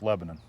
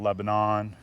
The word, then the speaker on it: Lebanon: By the way, Dave told me that's the proper way to pronounce it too, is Lebanon instead of Lebanon.